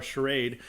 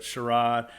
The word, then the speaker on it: charade: probably knows from haha Sharad you are charade as they should say but Sharad is how it's pronounced in the song haha charade you are